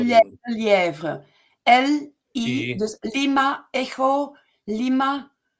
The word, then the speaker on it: Lelièvre: And that was Claude Lelièvre.